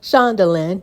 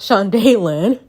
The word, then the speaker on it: Shundalen: name wrong all this time so it's actually pronounced as shandalin not sean daylan and i'm gonna flash scare my thumb for